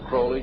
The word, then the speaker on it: Aleister Crowley: i learned about aleister crowley he likes to be have his name pronounced crowley to rhyme with holy and the satanist today